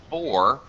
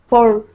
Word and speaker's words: for: a full pronunciation uh the full pronunciation of four four actually sounds like two syllables because of the because of the there's kind of a for were there's kind of a w Glide sound so of course we